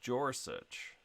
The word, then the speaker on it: Gorsuch: Donald Grossuch. Rhymes with more such. Donald Gorsuch.